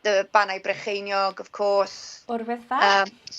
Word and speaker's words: Yr Wyddfa: Urwyddfa? Yr Wyddfa. Yeah, I noticed that, like, I've been told to pronounce it Urwyddfa as a W in there,